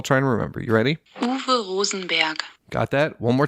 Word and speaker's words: Uwe: everybody starts calling UWE, which in German, a W is pronounced like a V, when they start calling Uwe, Uwe, or Uwe.